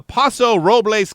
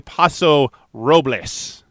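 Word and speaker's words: Paso Robles: let's go to uh poso robl California am I saying that wrong poso Ro robbles you're saying it wrong I I would believe it would be poso robbles California uh where a man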